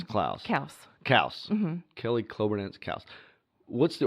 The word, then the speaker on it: Kaus: So, how do you pronounce on Facebook? You have Kelly Kloberdanz. Kloberdanz, and then it's Klaus. Kaus.